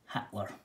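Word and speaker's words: Hiedler: l e r but pronounced as hitler just a regional dialect language idiosyncrasy that's matthew bensworth so alois heidler always hitler i was shukle gruber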